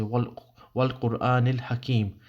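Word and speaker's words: والقرآن الحكيم: You'll say wal Qur'an al-Hakim. This is how you would pronounce it, but I'm just going to say it for the sake of Arabic grammar.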